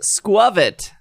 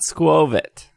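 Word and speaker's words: Skwovet: post-breaking news would be good uh it is pronounced squivet not squove it that's what i've been saying this whole time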